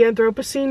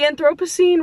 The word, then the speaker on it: Anthropocene: The Anthropocene Review, I think is how you say that word.